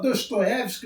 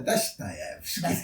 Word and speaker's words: Dostoiévski: Ele fala a pronúncia. A gente fala Dostoiévski, mas é Dostoiévski.